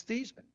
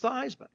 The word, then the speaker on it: Theismann: I said, "It's thesman." He said, "No, it's not." your last name is pronounced thyman.